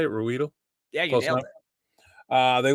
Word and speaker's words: Ruedel: Ruedel?